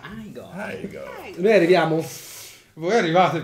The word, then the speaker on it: Igor: Si pronuncia Igor.